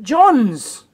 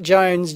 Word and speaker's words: Jones: wrong look at that it's Dave Jones j o NES not Dave John's oops and I stand